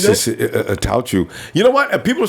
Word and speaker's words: Attaochu: What about this new guy we got, that pass rusher that I can't even pronounce the name of? Yeah, it's just Attaochu.